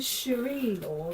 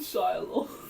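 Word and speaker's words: Shire Lords: I think it's pronounced the Shire Lord.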